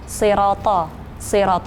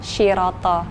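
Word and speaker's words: صراط: Terus kemudian baca sod, aku membacanya itu seperti membaca shin, padahal kayak misalnya siroto harusnya kan sod ya, aku bacanya shiroto gitu.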